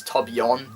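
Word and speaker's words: Torbjörn: name I call him tojn I know it's Tob yon uh because it has like the accent but whatever um but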